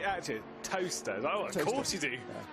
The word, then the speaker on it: Towcester: How do you say it actually? Toaster.